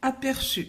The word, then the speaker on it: aperçu: Donc, le participe passé s'écrit avec une cédille. Et devant la lettre U, on prononce S.